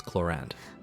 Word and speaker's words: Clorinde: And before anyone comments on the pronunciation of Clorinde's name, in the game, it's pronounced as Clorinde.